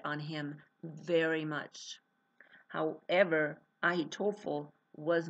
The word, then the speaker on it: Ahitophel: Now, what's really, really even more interesting is that Iliam is actually the son of Ahitophel. Ahitophel. It's spelled Ahitophel.